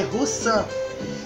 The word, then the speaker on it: Roussin: Se escreve Roussin, mas se lê Roussan.